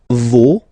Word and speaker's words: vos: No, you don't pronounce the final s.